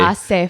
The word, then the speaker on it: hace: Hace frío. Hace frío. The H is silent.